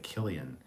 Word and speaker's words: Cillian: don't care uh sean cillian murphy is pronounced hard c like killian irish language doesn't have a k letter well i'm irish so